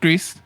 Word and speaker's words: Gris: Yeah, but the word actually it's supposed to be pronounced Grease. I said Gris for like a year and a half.